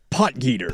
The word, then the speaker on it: Potgieter: Polgeider, is that how you say his name, Casey? Potgieter.